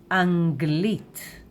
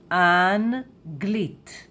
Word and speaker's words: אנגלית: And in Hebrew we say Anglit, Anglit, Anglit, Anglit.